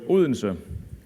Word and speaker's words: Odense: except for the locals so just so you get a chance to get it right the city is called olinson and i'm it's a